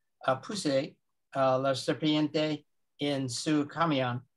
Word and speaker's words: camión: So once again, cuando estaba trabajando in la granja de mi papá, puse la serpiente en su camión. Is the accent on the A, camión? Camión. Camión, truck.